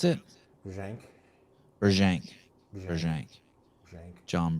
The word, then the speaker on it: Brzenk: How do you pronounce it? Brzenk.